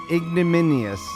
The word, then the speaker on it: ignominious: with see so like how would you pronounce that min oh Min ignominious that's it right there and you said I